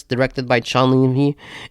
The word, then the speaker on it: Levy: I have faith in Sean Levy and or Sean Levi. That's how you say his name.